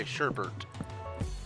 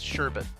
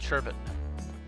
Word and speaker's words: sherbet: is when people say sherbert there's no second R in that word it's sherbet but because of a